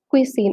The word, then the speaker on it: cuisine: Cuisine. It's pronounced as cuisine, and the spelling is Cuisine.